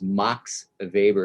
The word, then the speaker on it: Max Weber: uh 1900's german sociologist mox of weber is how you say his name and what i what